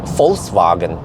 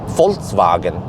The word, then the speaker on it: Volkswagen: it as uh with if you pronounce it with an f then you have the correct pronunciation so it's it's volkswagen volkswagen yeah that's the correct